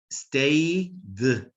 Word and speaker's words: stayed: This one is pronounced with the D. Stayed, stayed, stay, stayed, work, worked.